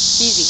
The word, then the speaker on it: Kesey: Yeah, Kesey, yeah, that's how you say his name.